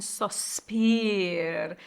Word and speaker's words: sospir: And sospir. So again, the emphasis is on the first of the spir, give, take.